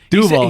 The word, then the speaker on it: Duval: Duval.